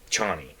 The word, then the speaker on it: Chani: in this one they went back to um chani um which was how they pronounced it in this movie um they went